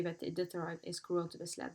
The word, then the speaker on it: Iditarod: Now, the word Iditarod comes from an Athabascan Indian word pronounced Hiditarod.